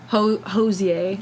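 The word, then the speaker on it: Hozier: did it was on yeah he's great and oza that's how you say his name he's going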